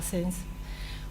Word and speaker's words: Sense: una consultora se llamaba Sens, una campaña justamente en responsabilidad social empresarial. ¿Cómo se llamaba la empresa? Sens. se escribe sense, pero se se pronuncia sens y tenía que ver